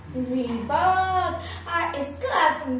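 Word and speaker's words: Reebok: आई एम 100% sure, but इसका सही pronunciation है रीबॉक, रीबॉक, रीबॉक, ऐसा लग रहा है कि कोई बक बक कर रहा है, ऐसे रीबॉक, ऐसे याद रखिए, बक बक मत कर, रीबॉक।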